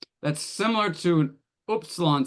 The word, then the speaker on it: upsilon: Upsilon is oo, oo, and this is oo. It's like flatter. It's and I don't really care. If you pronounce them the same, doesn't matter to me. But that's very common. The diphthong is more like English. The OU is it's more like English, and the upsilon's more like a French U.